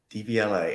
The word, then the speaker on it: Devialet: What's the correct pronunciation of Devialet? Devialet.